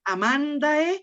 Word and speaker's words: amandae: Amandae. Acuérdate que Amandae. siempre el acento lo haces una sílaba antes.